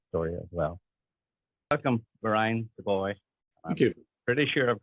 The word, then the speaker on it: Booij: So in Spain, they call me Gurgur, which is the furthest away from my original name I think you can get. So anything between that and the original pronunciation is totally fine with me. But it's Merijn Booij. Merijn Booij.